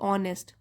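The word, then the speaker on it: honest: हम एन लगाते हैं जैसे कि ऑनेस्ट एच साइलेंट होता है उसमें एच ओ एन ई एस टी ऑनेस्ट हम बोलते हैं ऑनेस्ट तो ओ साउंड है वावल साउंड यहां पर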